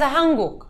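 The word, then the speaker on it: 한국: No, Corea es Hanguk. O sea, no, no sé. Así se pronuncia Corea en coreano.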